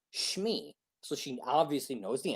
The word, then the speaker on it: Shmi: She spelled it like Schmee, I think, something like that. But phonetically, that's correct. If you're saying it, Shmi, so you take that word and you say that word, it's said correctly.